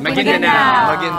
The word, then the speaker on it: Maguindanao: Maguindanao.